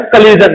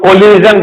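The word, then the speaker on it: collision: अब बात करते हैं हम कलीजन की। ऐसे बहुत से लोग कोलिजन बोलते हैं, बट जो प्रोनाउंसिएशन है वो कलीजन है।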